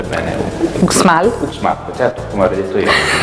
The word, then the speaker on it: Uxmal: Ok, il prossimo non so se lo so pronunciare bene. Uxmal? Uxmal, certo, come avrei detto io.